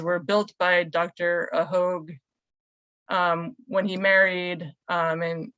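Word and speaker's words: Hogg: of the name so um it's apparently the hogue was the way it's pronounced although that might have changed over time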